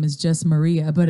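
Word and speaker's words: Marija: Slavic SL okay Yugoslav and how do you pronounce it Maria you do so that J and that Slavic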